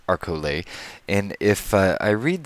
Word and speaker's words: Arcole: the arol map and someone who's actually Italian confirms with me that it's pronounced arcole and if I I